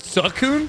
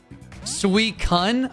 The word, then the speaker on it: Suicune: not pronounced suicune suicune how'd you think you pronounced it sakhoon thank you sweet cun oh God bro what the ever some people say sweet shun well those people are stupid surprise sweet cutest